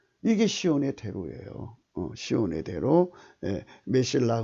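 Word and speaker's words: מסילה: 메실라 근데 흑자 발음 안 하고요. 그냥 메실라라고 이제 메실라. 여기 발음도 메실라라고 그래요.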